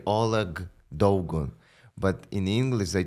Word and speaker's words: Oleh: Ole. O E H. Ole. So, it's like a Yeah, like a scratchy.